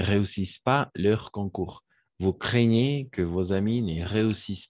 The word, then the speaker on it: craignez: vous craignez, comment ça se prononce? Exact, c'est ça, craignez.